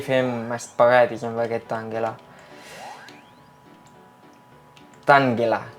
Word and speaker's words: Tangela: Tangela, que pronunciem Tangela, però en català hauria de ser Tangela.